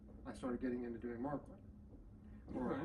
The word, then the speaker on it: Märklin: started getting into doing Markland, or Märklin if you're German. Märklin's the correct pronunciation, but but I'm Southern, so it's Markland.